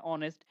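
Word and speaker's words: honest: কি কি আছে আওয়ার এ সকল ক্ষেত্রে হ্যা অনেস্ট এ সকল ক্ষেত্রে এইচ এর উচ্চারণ হয় না তারপরে কিসের উচ্চারণ হয় ওর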